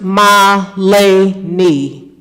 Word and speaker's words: Milani: delayed um good evening my name is pronounced Malay knee Milani thank you this